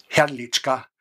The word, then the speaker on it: Hrdliczka: La segunda persona fue el profesor Ferdinand Hrdliczka, Hrdliczka era un poco difícil de pronunciar, pero fonéticamente se ponía una "e" en el medio y por eso se llamaba "Herdliczka Ferdinand".